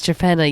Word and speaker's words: Torpenhow: spelled like Torpenhow. Torpenhow, that's it, yeah. But do never, that is Trepenna, yeah.